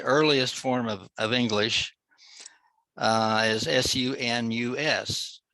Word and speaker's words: sunus: form of English, is S-U-N-U-S. It would be pronounced sunus.